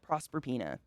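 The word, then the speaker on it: Proserpina: the rape oh the rape of prosper peanut prosper pena is that how you say it prosper pena yep it's literally a rape i wasn't being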